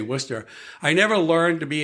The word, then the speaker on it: Worcester: Worcester, pronounced just like that, too. Worcester. Okay, it's not like Wooster, like like Wooster sauce.